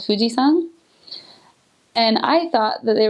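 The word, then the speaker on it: 富士山: But what I learned is that the san is another way to pronounce the kanji for mountain.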